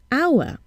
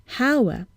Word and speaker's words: hour: need to listen at how the word is pronounced for example our we see an age but we hear a vowel South at the beginning our and not Hauer so what do we do in this case